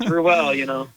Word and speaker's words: Ruel: That's how you pronounce his last name. Yeah. If you ever meet me, it's Ruel, Yeah.